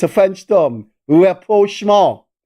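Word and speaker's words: rapprochement: it's a French term Repro I know some people call it rment it is it is spelled me n but that silent is Repro not reproach so Callin if you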